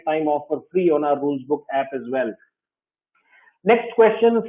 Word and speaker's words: RulezBook: You can actually get a sense of that by downloading an app called Rulesbook. I pronounce it as RULEZ, spell it as RULEZBOOK.